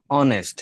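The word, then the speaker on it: honest: অ জি অথবা আ স্যার দ্বারাও অনেক সময় স্বরে আর মতো উচ্চারণ হতে পারে। তো স্বরে অ অথবা স্বরে আর মতো যদি উচ্চারণ হয়, এটা অ্যাকচুয়ালি ওই যে ও দ্বারা, ও যেরকম ও এর ফর্মে অনেস্ট, হ্যাঁ, ও দ্বারা একটা ভাওয়াল বুঝাই, তো ভাওয়াল এর মতো একটা উচ্চারণ চলে আসে, কাছাকাছি, পুরা ও না,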